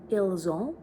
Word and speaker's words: ils ont: But because il, elle, pluriel, the pronouns end with S when you're pronouncing it. Actually, it's ils ont, elles ont. So you have that liaison entre S et E.